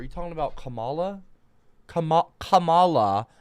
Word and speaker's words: Kamala: You're sniff and camel toe. Are you talking about Camala? Kamal Kamala is not called Camelto. Her name is not Kamlto. It's Kamala.